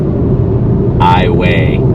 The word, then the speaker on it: Iowa: rest of the world it's Iowa but here in Louisiana we pronounce it iway hot tip is if